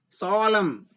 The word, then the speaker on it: solemn: Fifth one is solemn. N is silent. Solemn.